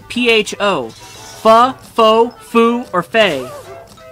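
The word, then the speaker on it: phở: A lot of people would think it's pho, but it's not, it's pho.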